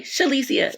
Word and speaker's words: Shalicia: how you say it if you could say Alicia Silverstone just say shelisia it's the same thing just say sure in front of Alicia that's all you got to do shalicia